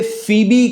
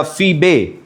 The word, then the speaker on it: फीबे: कहता है, मैं तुमसे फीबी के लिए, या फीबे, फीबी इंग्लिश प्रोनाउंसिएशन है, फीबे के लिए, जो हमारी बहन और किंक्रिया की कलीसिया की सेविका है, सेविका है।